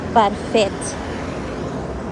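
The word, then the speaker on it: parfaite: Parfit pero pagka feminine parfet. May E kasi kaya-pronounce na yung T.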